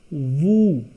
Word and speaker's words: vous: We will pronounce it woo. Here is an additional rule. In French, the last letter is always silent except C, F, L, R, and E. So here you can see at the end of VOUS we have S, which would be silent because it does not fit the rule C, F, L, R, and E. Hence, it will be pronounced as woo, which means you.